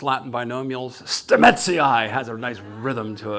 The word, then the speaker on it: Stamets: And for us, the pronounced Latin binomials, Stamets has a nice rhythm to it, you know?